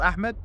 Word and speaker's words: Ahmad: You want me to go him call Ahmed? His name is Ahmed. Come on. It's not Ahmad. Ahmad is not a name. That's the way that he pronounces. That's his name.